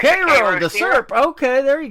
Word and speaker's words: Cairo: Yeah, it's actually they pronounce it Cairo, like the Cairo, IL.